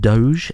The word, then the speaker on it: Doge: the doggy ones oh dodge it don't it's pronounced doge thank you very much